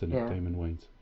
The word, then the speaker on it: Damon: it was just wayne's i think it's pronounced daymond he was um he